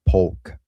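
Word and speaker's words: Polk: It's Pulk with a L. I always say Poke County.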